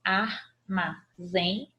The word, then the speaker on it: armazém: Se eu estou vendo o acento e é na última sílaba, tá aqui, ó, armazém. Então, se é na última sílaba, ela é oxítona.